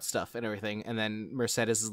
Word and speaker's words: Mercedes: Mercedes which I can't it's pronounced Mercedes and I cannot believe